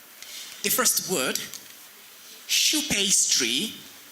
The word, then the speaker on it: choux: The first word, shoe pastry. It has the digraph sound sh, what begins with the letters CH, digraph CH. And it has a silent letter, which is X.